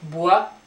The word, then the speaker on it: bois: And then we have bois, don't pronounce the last S, bois, masculine, le bois.